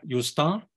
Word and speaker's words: Justin: Es Justin, pero se pronuncia Justin en francés, pero digamos castellanizado, Justin Trudeau, con doble, es el diptongo francés más frecuente.